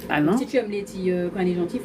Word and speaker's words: Leythee: Letty, comment ça s'écrit?